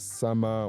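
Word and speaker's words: Sumer: Well, today uh we work with six major civilizations uh which is sume or what you can pronounce as summer, what you can pronounce as anything you want to pronounce it which is president Mesopotamia.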